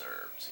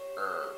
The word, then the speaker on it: herb: I don't think I've picked up some of these herbs yet. And I may have said this in another video of mine, but it's pronounced herb, not herb, for anyone who is getting it wrong.